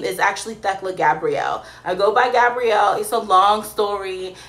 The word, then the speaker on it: Thekla: It's 2 syllables. It's Thekla, right? Thekla. And my, the origins of that name is actually Greek, right? It comes from the words theos and kleos, right?